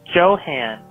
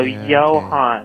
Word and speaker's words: Johann: but you are somebody's name wrong you said Joe Han and it's pronounced yellow hon you don't know how it